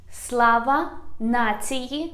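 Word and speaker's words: Слава нації: to heroes the next one is slava nazi slava nati means glory to nation let's repeat one more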